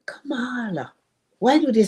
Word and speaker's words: Kamala: She said, I cannot understand why they can't pronounce that woman's name. And I said, what name? Kamala. Why do they say everything but Kamala?